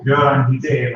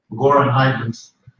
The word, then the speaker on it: Göran Hidén: I'm Göran Hidén, or It's okay. Goran Haydn's some remember me by the English pronunciation of my name.